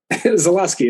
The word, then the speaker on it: Zaluski: Zaluski.